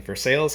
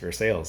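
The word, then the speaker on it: Versailles: he was born on a tobacco farm in versales Kentucky near Lexington it's spelled the same as the Versa in France but it's pronounced versales in Kentucky by age 10 Conley had begun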